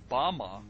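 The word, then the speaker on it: במה: which Satan fell is Strong's Hebrew word 1116 pronounced Bama is most commonly used to refer to a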